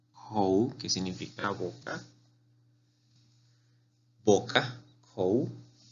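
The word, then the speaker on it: 口: Aquí tenemos un carácter muy utilizado en chino, que es kou, que significa boca, kou.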